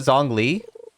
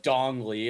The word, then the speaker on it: Zhongli: Bros called it Zhong Li. It's Yeah, Zhong Li, right? or Dong Li, as I call it.